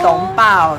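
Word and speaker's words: 食当包: 是我们的包子店名称叫食当包，它是客家话的发音，是懂饱，对，就是吃很饱的意思。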